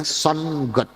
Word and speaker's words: sun: n g-nya kecil g-nya kecil G O jadi bacanya son dewa matahari su UN n Sun Jadi kalau